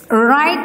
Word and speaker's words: write: The third one, right, right. Right, write the address, write the address on the right side of the paper.